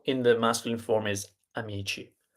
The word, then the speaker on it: amici: So C plus I, chi, C plus H plus I, ki.